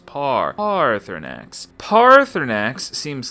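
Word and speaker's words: Paarthurnax: Parx and yeah look I I pronounce his name Parx because it's got those two A's in it and those two A's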